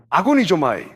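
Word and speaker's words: ἀγωνίζομαι: 그리스도로 다투다는 단어는 아구니조마.이 이 아고니저마입니다. 아고니저마.이 이 단어의 의미는 다음과 같습니다.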